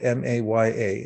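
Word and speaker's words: माया: something it's in sanskrit it's spelled m-a-y-a and the two a's are long so it's pronounced maya and literally in sanskrit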